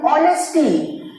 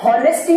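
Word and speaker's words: honesty: यहां पर यदि मैं बात करूं ऑनेस्टी, तो ऑनेस्टी, तो हॉनेस्टी नहीं, यदि ये हॉनेस्टी होता तो ये क्या हो जाता?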